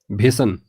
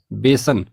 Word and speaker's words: बेसन: bulb अगली वर्तनी है भेसन हम में से कई लोग इस शब्द का गलत उच्चारण करते हैं और इसी कारण इसको गलत भी लिखते हैं भेसन नहीं होता है यह गलत वर्तनी है अशुद्ध वर्तनी है इसकी जगह में होता है बेसन तो भ ना होकर